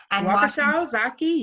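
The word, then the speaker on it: Ozaukee: development in this is difficult for me to pronounce wakisha and ozaki is that right ozaki yes okay and washington counties she graduated from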